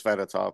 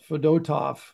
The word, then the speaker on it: Fedotov: fedotov fedotov fedotov fedotov we thought it was fedotov but we were all wrong of course it's always the it's always the M middle syllable that's the yes rule to live by is the accent fedotov so there's your goalies